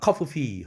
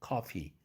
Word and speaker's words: coffee: 그 밑에 줄에도 coffee, F가 두 개라고 다 발음, coffee 하진 않지 않습니까? coffee. 하나로 발음합니다.